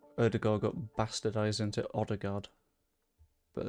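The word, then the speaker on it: Ødegaard: Other than the fact that I know that this is, I believe, meant to be Erdegaard.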